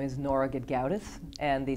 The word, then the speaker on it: Gedgaudas: can you please say your name and spell it please my name is Nora gauth and the spelling of my name is g